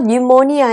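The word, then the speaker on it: pneumonia: 폐렴에 대한 참고로 여기서 니 뭐니 아 에피는 묵음 입니다 빨리 이루어 갈 직책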